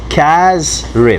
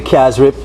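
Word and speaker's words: casareep: that e Z rip don't pronounce the E okay yeah right so you got the cash rip so that's not a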